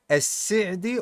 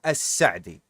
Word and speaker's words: As-Si'di: wa Jal, at what Imam As-Si'di or As-Sa'di. Both ways are correct to pronounce, by the way. We have heard from some of the Mashayikh, and our Sheikh Salih As-Sindi, he says As-Sa'di, as I recall.